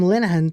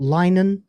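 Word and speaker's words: Linehan: the Great once again has this from Graeme Lahan testifying before US Congress on lack of free speech in the UK. Um, by the way, again, smash my friend. That's how you pronounce it. It's not Linen, it's Lahan.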